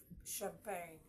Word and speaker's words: champagne: produce the CH sound there are times it give you the sh sound as found in Champagne even though champag begins with c h all right do you